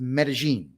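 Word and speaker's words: Medellín: That's so if you ever see Medelin, that's pronounced Medigene.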